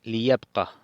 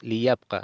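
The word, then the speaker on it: ليبقَ: En vez de decir yabqa, decimos liyabqa, sonido corto, ya que si tiene el alef es sonido largo. Entonces decimos liyabqa, del verbo baqiya es quedarse.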